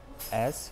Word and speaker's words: as: К примеру, вы можете сказать as her family grew, as her family grew. Не путайте вот это as, вы должны произносить z, в конце должно быть звук z, не s, потому что если вы